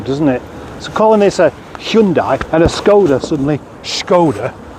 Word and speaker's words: Hyundai: we pronounced it as Hyundai and then the advertisements came along and pronounced it Hundai telling us that we're all doing it wrong making us feel insignificant